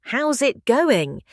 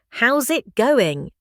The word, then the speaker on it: how's it going: The pronunciation of this phrase is how's it going? Native speakers often link the words together and say it faster, like how's it going? That's how it naturally sounds in real life conversation.